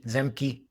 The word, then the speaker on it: Zemke: In Ron, how do you pronounce his last name? Zemke.